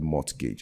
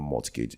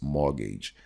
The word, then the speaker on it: mortgage: pronounce this I said mortgage it's not multicage it's mortgage the tea is silent